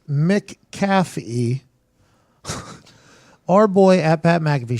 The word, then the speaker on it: McAfee: the WWE thing and he put in parentheses pronounced Mick caffee our boy app at McAfee show Dallas Braden